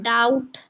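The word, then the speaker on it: doubt: Silent हो जाता है और टी से पहले अगर बी आए तो बी साइलेंट होगा। अब डाउट डाउट डे डाउट और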